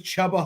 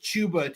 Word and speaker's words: Chuba: thought his name was chubba hubard and I was like that's an awesome name and then I heard it pronounced chuba today and I was very